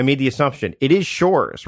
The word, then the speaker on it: Shores: I made the assumption it is Shores, right? It's not Shorez or anything like that, is it?